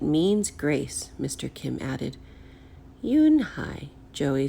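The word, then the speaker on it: Unhei: Kim then turned to Joey she nodded slowly yes it's pronounced Eun Hye and it means grace mr. Kim added Eun Hye Joey said slowly and this time perfectly it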